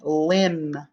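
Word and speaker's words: limb: so we have ren and right now 23 lim another word for tree branches lim l-i-m-b lim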